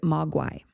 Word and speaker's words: mogwai: find, is the word, you get the word magui, I think is how you say it, magui. Magui. And he pronounced it mogwai.